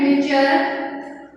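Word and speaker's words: Miescher: जो फिजिशियन थे Friedrich मिशर। अपने अपने प्रोनाउंसिएशन है, कोई इसे फ्रेडरिक बोलता है, कोई मिशर बोलता है, कोई मिशर बोलता है, आप कैसे भी प्रोनाउंस कर सकते हैं।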